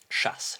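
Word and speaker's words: Szasz: of sha of shasses I don't know how to pronounce pronounce this word properly. He was a a Hungarian American psychologist. Shass. Shass. I think that's how you pronounce it.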